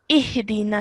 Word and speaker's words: اهدنا: But this alif has a kasra underneath it. So we know that anything with a kasra underneath it is pronounced as E. Okay, so alif with a kasra, E. So that is how the sound we're going to carry whilst we're joining to the ha.